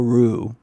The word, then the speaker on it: Rops: But it a phenomenal book by Henri Daniel Roux. The last name is Daniel, just like Daniel. And then hyphen ROPS, R-O-P-S, it's French, it's pronounced Rue.